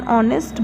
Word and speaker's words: honest: Example, an hour, an honorable person, an honest boy. In each of these cases, the first consonant letter H is silent.